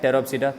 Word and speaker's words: Pteropsida: P is silent over here and here. Okay. So Coelopsida, P silent, Pteropsida, P silent.